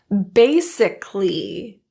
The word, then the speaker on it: basically: Basically. That A is dropped. Basically.